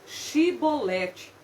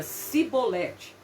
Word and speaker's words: Chibolete: Então lhe diziam: dize, pois, Shibolete. Porém ele dizia Sibolete, porque não podia pronunciar assim bem.